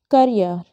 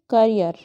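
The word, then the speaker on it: career: word है यहां last कर यार क्या है यह कैरियर करियर नहीं होता है कई लोग इसको कैरियर बोल देते हैं तो देखिए स्लैश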